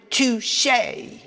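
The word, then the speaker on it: touché: The word has an accent aigu and is pronounced touche.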